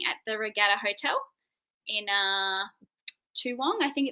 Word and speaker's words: Toowong: music festival happening at the Regatta Hotel in Toowong, I think it's called. So we're doing. You can pronounce that. Toowong, like that.